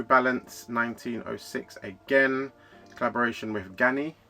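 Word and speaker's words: Ganni: 1906 again collaboration with gany I believe that's how you pronounce it gany uh very it's a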